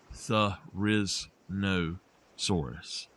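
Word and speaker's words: Therizinosaurus: The correct pronunciation is Theriznosaurus.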